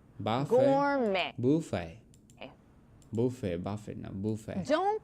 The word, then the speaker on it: gourmet: Don't pronounce the T in these words.